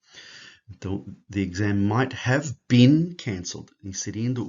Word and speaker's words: been: Cuidado com a palavra been, porque na pronúncia soa muito parecido, muito similar à palavra being, que é B-E-I-N-G.